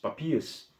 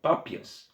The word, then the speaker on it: Papias: ano de falecimento então papi papias desculpa pápias pronúncia é um pouco confusa pápias de herápolis irá